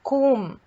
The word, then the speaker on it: comb: silent case finally it's comb the b is silent whenever word is ending with mb usually the b is silent which letters are not